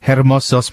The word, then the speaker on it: hermosos: Y ojos hermosos, pero pene no yo tengo. That's why, because you see, you shouldn't pronounce the H.